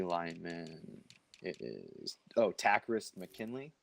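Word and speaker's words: Takkarist: It is Takarist McKinley. Takarist. So he was like saying it like it was I thought it was Game of Takarist.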